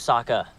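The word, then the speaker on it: Sokka: uh-oh Fire Nation hey my name's Saka rhymes with AA and waka waka oh my gosh she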